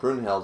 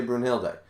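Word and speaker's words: Brunhilde: then i that like i called brunhild brunheld until it was it's been corrected to burnhill day now i say bruno hill day but like i don't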